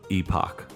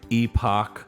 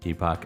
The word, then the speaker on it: epoch: i always called it epoch yeah sounds weird i think like the dictionary says it's supposed to rhyme with epic they're pronounced the same